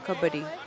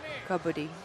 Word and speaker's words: kabaddi: A lot of people asking it is spelled kabadi. K a b- a d i. But when you say it and when you're saying it as you're moving, you're saying kabi. Kobi. Kobi.